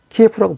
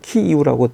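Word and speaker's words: Kyiv: 근데 키예프가 원래 우크라이나 수도를 키예프라고 불렀었는데 이제 러시아와 전쟁이 있은 이후부터 우크라이나 현지 발음으로 키이우라고 바꿔 부르기로 했죠. 키이우. 네, 키이우. 네. 스펠링은 같은데 이제 우크라이나 현지 발음으로 지금은 이제 키예프라고 안 하고 키우이라고 부릅니다.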